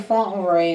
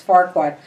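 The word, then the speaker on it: Farquaad: Lord Farquhar, I always say the guy's name wrong. I want to say Fauntleroy, and it's Farquhar, was played by Sydney Kennedy.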